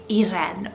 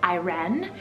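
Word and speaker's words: Irén: I have the name Iren, spelled I-R-E, the E has an accent, N, Iren, or you can pronounce it as Iren.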